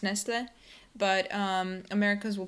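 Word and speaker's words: Nestlé: I think correctly it's Nestle but um Americans will pronounce it Nestle Nestle yeah Nestle again you don't pronounce the T Nestle Nestle Nestle good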